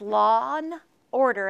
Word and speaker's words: Lawn Order: to read lawn order no I'm not a sloppy pronouncer it's lawn order as in a lawn of grass and it will be